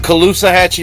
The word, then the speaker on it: Caloosahatchee: on the, how do you say it, Kahalusachika something river. The Caloosahatchee River.